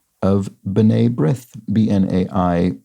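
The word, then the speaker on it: B'nai: pronunciation of Bene brith bnai pronounced bin and the letter A to rhyme with bidet Bene brith it means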